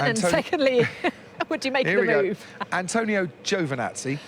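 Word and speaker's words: Antonio Giovinazzi: secondly would you maybe Antonio Jovan at sea that's how you pronounce it I checked with a man himself when we saw him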